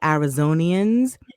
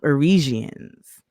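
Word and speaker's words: Arizonans: He meant to say Arizonians. He called them Arisians. I'm here with you, Arisians.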